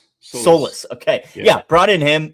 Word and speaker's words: Saliba: And like you said, they brought in uh Sorry, will you pronounce his name for me one more time? Yes, Saliba. Saliba, okay.